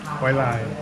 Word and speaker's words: หอยลาย: ประมาณ30 หอยลายผัดเผ็ด หอยลาย Hoi lai.